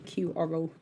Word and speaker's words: iQoro: I'm going to have to work out how to pronounce that. Hang on. I've worked it out. iQoro.